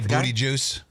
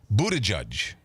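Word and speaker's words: Buttigieg: I say booty juice. I call him Pete Booty Juice. But it's Buddha Judge.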